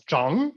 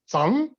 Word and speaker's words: Zhang: my last name because most germans cannot pronounce zhang they pronounce it as sang which sounds a bit funny to a chinese ear because it means dirty in chinese one mispronounced but eventually